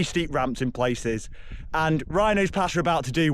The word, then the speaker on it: Wrynose: Well, we've got Rhinos Pass, which I always used to be thought was spelled like rhino, like the animal, but it begins with a W cuz, of course, Cumbria spelling.